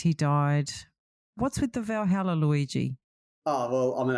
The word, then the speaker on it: Valhalla: Valhalla. Valhalla. Yeah. Valhalla.